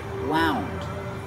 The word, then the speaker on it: wound: in the past wound make the owl sound like out and about wound I wound up the